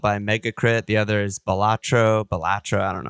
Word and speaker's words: Balatro: I don't know if I actually am saying it better now, but well, it evokes Italian to me, so I feel like it's Balatro. Balatro.